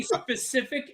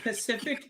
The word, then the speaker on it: specific: Oh, and when people can't say specific and they go Pacific, no, that's a fucking.